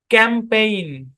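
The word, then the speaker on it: campaign: এই বরাবর ভাগ হবে প্রথম অংশের উচ্চারণ ক্যাম আর এখানে জি টা সাইলেন্ট শব্দের শেষে জি এন আছে জি সাইলেন্ট আর এখন এখানে এ এবং আই মিলে এ লং সাউন্ড দিচ্ছে তাহলে উচ্চারণ হবে ক্যাম্পেইন কি উচ্চারণ ক্যাম্পেইন ক্যাম্পেইন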